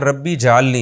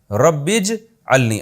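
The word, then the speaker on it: رب اجعلني: नमाज कायम करने वाला इसको लोग अक्सर पढ़ते हैं रब्बी जलनी ये गलत है रब्बीज अलनी असल में था रब्बी इज अलनी अलिफ साइलेंट हो गया ऐ मेरे रब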